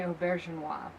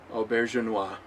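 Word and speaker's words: Auberjonois: He played Odo on Rene Aubergenois. Aubergenois.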